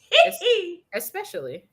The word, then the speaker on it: especially: that bugs me because a lot of people say especially and there's no x in there with an x x